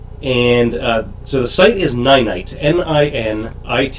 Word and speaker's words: Ninite: you it's free and so the site is ninite and i an ite it's actually pronounced ninite if you've seen it before you've pronounced it